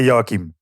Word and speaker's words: Joachim: get it right yeah so in Dutch we say okay but I won't ask you to pronounce it yeah so here everybody say yokim okay and then it's